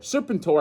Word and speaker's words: Serpentor: Serpent-Tor, I think, is the right way to pronounce it, right? Because on Hasbro Pulse, that's how they said it. Serpent-Tor. So, I mean, if Hasbro's saying it that way, it's got to be Serpent-Tor.